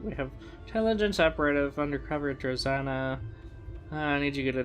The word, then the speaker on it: Drozana: Oh, Drozana, not Trezana.